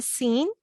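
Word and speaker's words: سين: So we have to make sure the seen is pronounced thinly.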